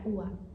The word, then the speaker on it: uva: Porque o B ele meio que desaparece. Vocês estão vendo? Ele não é nem B, é o V.